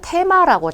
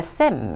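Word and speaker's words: theme: 단어들이 등장하는데 쎔 4 라는 단어가 있죠 우리가 테마라고 자꾸 발음하는 그 단어의 요 그런데 쎔 에 라고 발음하는 게 마셔요 그런데 어 여자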